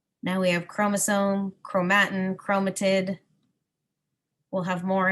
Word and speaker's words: chromosome: k now we have chromosome chromatin chromatid we'll have more as the year goes along but in science we don't say the CH sound for some reason it always sounds like a k chromosomes condense or get